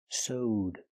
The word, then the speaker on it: sewed: It's pronounced with the long O. Soed plus the D sound connected together. Sewed.